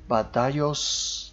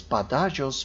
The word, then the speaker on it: Badajoz: Seville, taifa of Toledo, Badajoz. Actually, I was pronouncing that as Badajoz, but then one of my subscribers made the remark that it's Badajoz, a taifa of Granada,